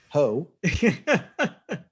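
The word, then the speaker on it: Heaux Tales: Also, I believe that's pronounced hotels. It's Heaux. I believe you're pronouncing that correctly. Yes, I believe it is a pun. Ho.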